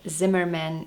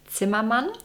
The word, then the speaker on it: Zimmermann: no way that I could not mention Elizabeth Zimmerman in a video like that. Although she is usually called Elizabeth Zimmerman, her last name is actually pronounced Zimman, which means carpenter in English because her husband was from Germany.